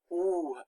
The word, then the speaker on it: ou: Now here, OU makes the oo sound. That's one of the difficult sounds for English speakers to make, because you have to stick out your lips.